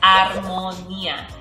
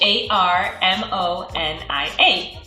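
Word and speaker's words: armonía: going to be Harmony and in Spanish it's armonia h a r m o n i a armonia and today I want to talk about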